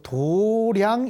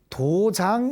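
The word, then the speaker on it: 道場: 이것을 도장 이렇게 쳐야 한문으로 나옵니다. 원래는 이게 도장인데 사찰에서는 이 글귀를 도량이라고 읽습니다. 도량. 아시겠지요? 자, 이게 원래는 도장이지만 우리 절에서는 도량이라고 읽는다.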